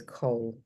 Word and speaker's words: Coll: And the name for hazel is Cole. So that's the druid name, Cole. Could you spell that, please?